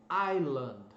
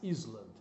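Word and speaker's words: island: a tendência a nossa colocar SS mas a pronúncia é ailan jamais Isla então Aila Então olha só a pronúncia escrita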